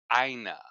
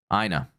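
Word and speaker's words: Aina: I was calling to let you know it's pronounced Ina. Ina.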